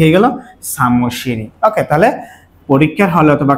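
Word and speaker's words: 사무실이: এখন উচ্চারণটা কি হয়? সা মু শি রি, কারণ এই রি উল্টে এখানে গেলে কি হবে? র উচ্চারিত হবে।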